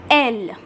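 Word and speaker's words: elles: So again here the last letter, which is S, will not be pronounced, and now this will be pronounced as L.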